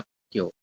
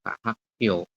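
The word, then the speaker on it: 학교: Tulisannya Hakgyo, tapi dibacanya Hakgyo. Oke, jadi rangkap yang belakang ya. Dibacanya Hakgyo.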